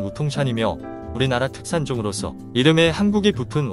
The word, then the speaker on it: 우통산: 조밀하게 분포되어 있습니다 오동산은 중국발음으로는 무통찬이며 우리나라 특산종으로서 이름의 한국이